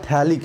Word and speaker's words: phthalic: अंग्रेजी में ये PH जो है वो साइलेंट रहता है, तो इसे हम लोग क्या कहते हैं, थैलिक एसिड कहते हैं।